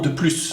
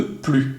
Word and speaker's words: plus: qu'il faut bien retenir si plus se trouve dans une expression négative on ne prononce pas le s sauf si il y à une liaison donc voici des exemples je